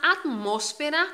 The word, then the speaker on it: atmósfera: Pero los domingos esta animación adquiría unas características y hasta la atmósfera, cuidado ahí con la sílaba tónica que es diferente de portuguesa, delataba.